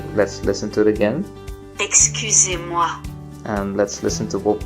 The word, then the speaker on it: excusez-moi: Excusez-moi. Okay, so that means excuse me. So let's try to say that. Excuse-moi.